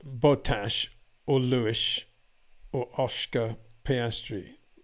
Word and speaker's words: Bottas: But I say Bottas. I don't say Bottas, which is incorrect. I say Bottas. I took the trouble to ask him when he was in GP3 how to pronounce his name. He said it's Bottas. And I said Bottas ever since.